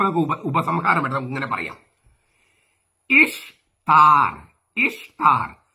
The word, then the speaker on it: ഇഷ്താർ: ഇഷ്താർ എന്നാണ് ഉച്ചാരണം ദേവിയുടെ, ഈസ്റ്റർ എന്നല്ല.